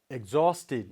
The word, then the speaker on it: exhausted: Exhausted. Now where we have to put this stress? Yes, before her sound. Okay, exhausted. So it becomes exhausted.